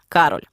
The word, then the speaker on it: Кароль: мав стати його син Кароль наголос на перший склад однак останній мав не